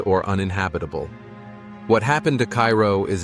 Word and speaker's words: Cairo: Cairo, pronounced Cairo, sits at the southern tip of Illinois, where the Ohio and Mississippi rivers converge.